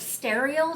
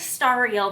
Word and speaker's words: Stariel: pronounced the Lord of stereo just based on how it's spelled I'm going with star real though as the pronunciation based on context it is a reference to stars and that is a